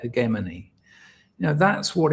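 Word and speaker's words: hegemony: what GSKY called on the hegmany sometimes pronounced hegemany I've always said hemany, you know, that's what it's about.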